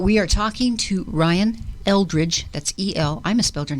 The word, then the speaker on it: Eldridge: Because I tried to put an A in there, like Aldridge, but it's Eldridge.